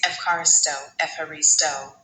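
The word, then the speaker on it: ευχαριστώ: Say it like this. Ef as in effort, then ha like a soft laugh. Re like re in reef. And finish with stoach with a strong sto sound.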